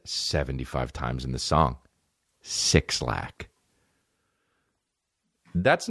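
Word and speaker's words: 6lack: Now, do I give a that it's that he wants to pronounce it black? No. Well, you know why you don't pronounce it black? Cuz it's sixlack.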